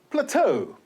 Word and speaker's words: plateau: And plateau. E-A-U is pronounced as O.